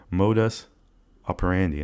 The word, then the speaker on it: modus operandi: I've heard that before, but I don't want to mispronounce it, and Google told me modus operandi, and I wrote it rhymes with candy.